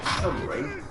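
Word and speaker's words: Cholmondeley: Intelligence officers Charles Chumry, yes, weirdly that is how you pronounce that, and Ewan Montagu were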